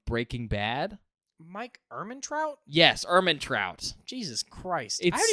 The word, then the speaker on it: Ehrmantraut: He played Mike Ehrmantraut from Breaking Bad. Mike Ehrmantraut? Yes, Ehrmantraut.